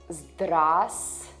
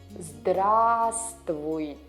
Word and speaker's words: Здравствуйте: Здравствуйте. The first V here is silent. Здравствуйте. Здравствуйте.